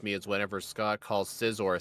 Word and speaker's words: Scizor: what really hurts me is whenever Scott calls Scizor a scissor.